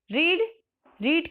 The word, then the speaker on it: read: Okay, रीड के आपको याद होगा कि तीनों फॉर्म ही कैसे होते हैं आपका. रीड स्पेलिंग सेम होती है बट यहाँ प्रोनाउंसिएशन क्या होता है, रेड.